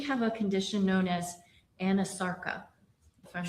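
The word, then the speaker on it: anasarca: examiner, did she have a condition known as anarcha? If I'm not mispronouncing it. No, you're pronouncing correctly. She did have a condition called anosarkca.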